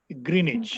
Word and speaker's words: Greenwich: so muhammad the uh w in greenwich is silent so we call it as greenwich it's a small place